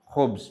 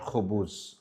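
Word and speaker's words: خبز: Khubz, not khubuz.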